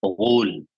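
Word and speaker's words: غول: artinya dan tidak ada Gul dan dibacanya dengan cara memberikan harakat d ah pada huruf gain Gul dia adalah sebuah nama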